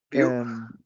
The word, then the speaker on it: Vue: bien, Vue.js, es que, ¿cómo lo pronuncias tú, Miguel Ángel? View. Vue, eso, Vue.js, y también hablaremos de Angular.